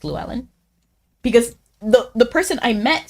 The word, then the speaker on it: Llewellyn: He probably anglicized it because no one can pronounce the voiceless that. Lateral that. I can't even pronounce what you're telling me it is. Oh, okay. The two L's. It's voiceless. So it's like, I don't even know how to say that. Like, power in the L, like.